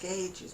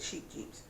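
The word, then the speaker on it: Scheepjes: Oh, if you subscribe today, you could get a, well, I think it's supposed to be pronounced scages, but I call it sheep jeeps.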